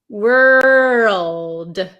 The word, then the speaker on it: world: word world world world so make sure you pronounce that L word world world world okay you